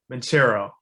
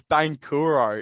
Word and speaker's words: Banchero: I'm going to say Paolo Banchero. I've heard it's Bankuro, is what I've heard.